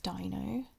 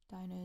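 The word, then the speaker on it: Deino: I think a lot of people don't know that because I hear most people pronounce Dino as Dano or Dino, which if you knew where the origin of that was, then you wouldn't do that.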